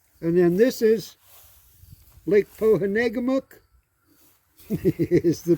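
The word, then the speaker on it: Pohénégamook: And then this is Lake Pohanegamuk is the pronunciation of it.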